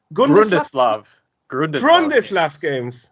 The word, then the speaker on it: Grundislav: So you are actually from, I don't know how to pronounce it, González Games? Grundislav Games.